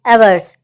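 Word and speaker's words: averse: The word is एवर्स। एवर्स से ही बना है ए प्लस वर्स। वर्ष की प्रोनाउंसिएशन आपको वर्षा जैसी सुनाई दे रही है, ठीक है।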